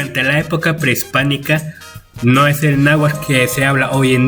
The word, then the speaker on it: náhuatl: Ya que mucha gente de hecho lo siguen pronunciando fatal, que es tl, náhuatl, y no, es náhuatl, síhuatl, cuac, conex.